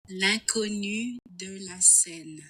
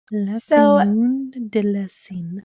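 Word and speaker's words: L'inconnue de la Seine: And I have tried to practice the French pronunciation of her name, and I have effectively given up. I've tried. Okay. So I'm going to play it for you.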